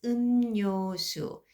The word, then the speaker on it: 음료수: So affects l, so it really pronounced n instead. So I'm going to pronounce as 음료수.